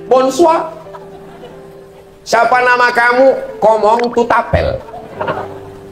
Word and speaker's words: bonsoir: Tulisannya bonsoir bacanya bonsua.